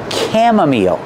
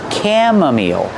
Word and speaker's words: chamomile: and this is pronounced chamomile that's right the CH makes a C Sound chamomile the I makes a long e sound like green beans again chamomile chamomile this is pronounced chamomile